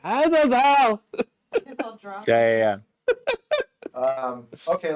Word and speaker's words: Azazel: The history of man in pronouncing this demon's name, has referred to him as Azazel. And what do they say? Yeah. How do they Azazel. Azazel. No. Azazel.